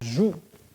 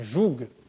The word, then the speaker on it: joug: Et vous connaissez peut-être, vous savez peut-être ce que c'est un joug ou un joug. Certains prononcent le G final ou pas.